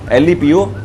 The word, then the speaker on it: Lepo: Although this fish is spelled Lepo but it is pronounced as “Lep” & it is popular in the coastal regions.